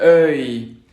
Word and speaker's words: œil: Estamos haciendo la boca en forma de O abierta, pero pronunciamos E. Para hacerlo, la lengua queda como en una cuenca. Exacto, es la de œil, sœur, cœur, cœur.